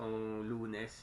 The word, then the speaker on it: Lunes: So lu, and then you pronounce it as nesa, right? There's an a, but it's just lunes, right?